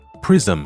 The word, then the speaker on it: prism: 答案就是在前加一个中央元音，所以它读作 prism，注意尾音是双唇闭拢啊，否则听起来太像 prison 监牢了。